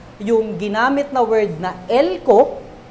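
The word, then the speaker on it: ἕλκω: At sabi ni Kittel sa Theological Dictionary of the New Testament, yung ginamit na word na elko or helko, silent H nga lang yan, kaya nahirapan akong hanapin kagabi.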